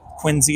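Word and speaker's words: Quincy: shopping at Fel Hall quinsey Market quiny is how they say it that was fun but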